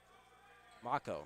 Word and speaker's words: Mako: Mako, sorry. Right next to it says rhymes with taco, as that will be